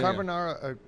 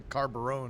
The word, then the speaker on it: carbonara: carbonara. I don't even know if I'm saying it right. Yeah. I was calling it a carbarone.